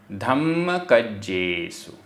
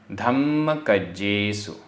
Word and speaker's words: धम्मकज्जेसु: अणवरयम, अणवरयम, देदी, देदी, धम्मकज्जेसु, आधा मा पूरा मा, आधा ज पूरा ज, धम्मकज्जेसु, धम्मकज्जेसु।